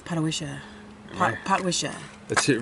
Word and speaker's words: Potwisha: Patawisha? Oh, I think it's Patawisha. Potwisha.